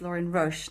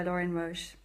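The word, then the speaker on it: Lorin Roche: before and I'm very grateful that the correct pronunciation of the author of these wonderful this wonderful translation is Lauren Roche not Roche which have been saying most of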